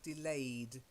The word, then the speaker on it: delayed: notice how the difference is in the ED ending, sometimes it's a T ending, like dropped, and then other times it's a more D ending, like delayed. So it's delayed, dropped, dropped, delayed. Both silent E's, but a slightly different ending for that ED.